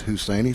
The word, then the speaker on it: Husaini: bring up number six Ashlin husaini is how I'm pronouncing it I may have it wrong PA man Jonathan bragwell said it's husainy so I must not be too too far off the short stop husi